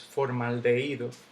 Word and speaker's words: formaldehído: Ojo, aquí hay una H, no importa. En el español, la H no se pronuncia, es muda. Entonces, las vocales al lado de la H hacen como que ya no existe.